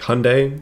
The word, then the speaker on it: Hyundai: and automation ryan hyundai somebody said it's kind of like pronouncing it like you would say sunday or yeah sunday isn't the ice cream so it's like hyundai sunday hyundai i gotta i gotta